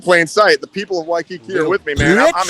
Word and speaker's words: Waikiki: waikiki right now and you're still pronouncing it wrong it's waikiki yeah and so you you escaped you ran off to hawaii you went to waikiki and now you're like